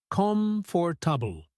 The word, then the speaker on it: comfortable: Example, if you struggle with the word comfortable, break it into smaller parts. Com for tubble.